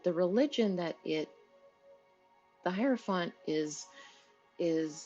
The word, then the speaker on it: hierophant: the high priest is the hierophant and the tarot or the higher font however it is that you want to pronounce it there's so many ways uh tarot decks are pronounced and specific major cards are pronounced that it's the hierophant that's how i say it so it's the